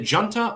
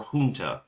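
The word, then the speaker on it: junta: ruling huta has declared is it jant or hun I've heard it pronounced both ways has declared a state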